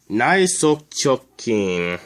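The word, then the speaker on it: 内側直筋: And it is written, the first symbol is this. It means inside of something. And it's pronounced nai. The second symbol is sok. I'm not really entirely sure what this one means. And this is how it's pronounced. Sok. And of course the third symbol means straight. And it's pronounced like this.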